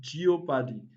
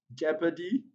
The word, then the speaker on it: jeopardy: the lips now i've heard so many students pronounce this word as geoparty other examples of words related to these words